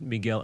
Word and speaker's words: Miguel: and by the way you pronounced it in a French way but he's Spanish or Mexican me really yeah oh so it's just like Michelle what's up v m Miguel Miguel Migel Miguel Miguel